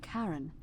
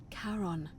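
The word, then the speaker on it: Charon: it's just as you described it only your pronunciation is a little off the name you heard wasn't Karen it was c h a r o n as in karon the fairy of the Dead Kon who in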